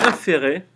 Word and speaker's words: inférer: Hume se demande en effet si on peut inférer, comme ça se prononce, IN, ferrer.